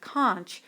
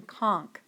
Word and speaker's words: conch: civilized Behavior disappears note although I myself prefer the pronunciation of con most dictionaries and professors prefer the pronunciation conch fire fire is another